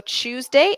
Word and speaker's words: Tuesday: Thursday Thursday ok Thursday whereas when I do chew so Tuesday I chew chew my mouth becomes a circle ok so qu the